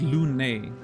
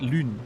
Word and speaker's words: Lune: Obviously, the name, you know, they pronounce it Lune, which I find interesting because it's a French word, right? Lune, which means moon. In a French game, you would assume that at least the name would be pronounced the French way, but no.